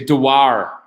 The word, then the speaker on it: Dewar: No, we don't say it like that though. We say Dewar. Dewar. Oh, sorry. All right, Decal. Dewar, as you would Decal.